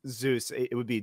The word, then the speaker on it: Zeus: It's Zeus. It would be Jeus in if you directly translated it into like Korean phonetics, but yeah, I mean, it's Zeus.